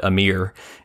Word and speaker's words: Amyr: the a mere meme I'm gonna pronounce it slightly differently and call it a mere and refer to the